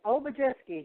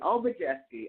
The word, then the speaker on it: Obijiski: It's Obijiski, just like it looks. All mostly eyes. Okay, exactly. Obijiski.